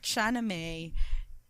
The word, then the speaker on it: Shahnameh: So again, speaking of the demon land, in the book Shahnameh, that's the correct pronunciation. Shahnameh.